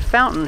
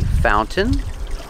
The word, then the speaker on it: fountain: can say Fountain fountain with this pronunciation you put the tongue up like you're doing a stop T but you don't make the T you fall to the n Sound found Fountain this is